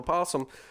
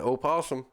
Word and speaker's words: possum: a picture of a possum online, and someone said that's an opossum. Yep. I said no, that's a possum. Get rid of that O. Yeah, exactly. If you're going to say it like that, spell it like that.